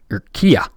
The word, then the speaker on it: Urquilla: You got Ray Urquilla, or I'm gonna go with just the Spanish pronunciation, Urquilla. The double L turned into a Y just because it sounds funner to me.